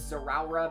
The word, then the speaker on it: Zeraora: I pronounce it as Zeraora because it's Z-Rao, like God of Rao from Superman, and then Zeraora.